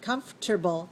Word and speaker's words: comfortable: the adjective is Comfort comfortable comfortable comfortable comfortable comfortable so we don't even say the the second syllable but in the noun